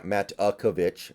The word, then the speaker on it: Matakevich: And Matakevich, let me make sure I'm pronouncing that right, by the way. Yeah, Matakevich.